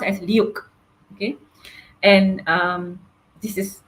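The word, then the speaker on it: LIWC: uh dictionary it's called L IWC but uh pronounced as luk okay and um this is the finding right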